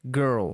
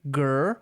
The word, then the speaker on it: girl: a sílaba tá então você vai ler Girl com R depois vai falar o l a letra L sem nenhuma vogal na frente então fica girl girl